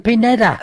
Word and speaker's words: Pineda: Can I introduce Pineda.